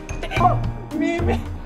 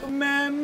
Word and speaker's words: meme: That this is pronounced me, correct? No! Mimi! Yes, thank you. Who pronounced it like that? Exactly. Who pronounced it like that? It's meme.